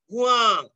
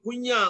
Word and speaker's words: ভুয়া: যেমন মিয়া, মিয়া, ভুয়া, যেটাকে অনেকেই ভুইয়া উচ্চারণ করে।